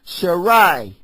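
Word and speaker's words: Sarai: And El Shadai said unto Abraham, as for Sharai, the pronouncing of her name before it was changed.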